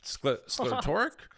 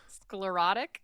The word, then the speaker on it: sclerotic: Sclertoric. Sclerotic.